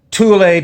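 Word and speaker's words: Thule: group known as uh i don't know how you pronounce it in english tula t h u l e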